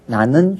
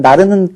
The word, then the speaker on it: 나는: 그 다음에 우리가 슈퍼맨, 하늘을 나르는이 아니라 는을 붙이면 하늘을 나는 슈퍼맨처럼 리을이 탈락을 해요.